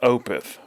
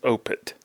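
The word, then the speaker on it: Opeth: name of the band opth for years but apparently it's opit the th is a hard T sound where they from Sweden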